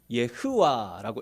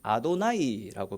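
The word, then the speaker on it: יהוה: 제가 이 빨간색으로 밑줄 친 단어가 원래 읽기는 예흐와라고 읽어야 됩니다. 여호와라는 단어입니다. 근데 제가 이제 자주 말씀드린 기억이 있는데, 이스라엘 사람들은 여호와, 하나님의 이름을 함부로 못 불렀습니다. 그래서 원래 읽기는 예흐와라고 읽어야 되는데 이스라엘 사람들은 아도나이라고 그렇게 구별해서 예흐와라고 안 읽고 아도나이 이렇게 불렀더랬습니다.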